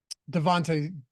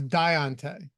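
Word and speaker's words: Diontae: mispronounced was uh um Devonte Deontay Johnson yeah I do that a lot I believe it was Diante yep right that was from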